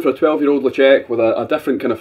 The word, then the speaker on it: Ledaig: Lagoon's with an L no it's not locked woman it's uh it's lecheck so we've got our 12 year old um logic that's how I'm pronouncing it if anybody wants